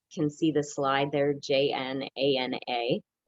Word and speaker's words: Jnana: see the slide there, Jnana. It's pronounced Gyana, and you will see it sometimes spelled that way, spelled phonetically, Gyan, and that's fine.